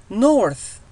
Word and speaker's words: north: Night North North شمال، ولاحظوا أن التي اتش لفظناها ث North، وهذا الموضوع سنتكلم عنه أيضا.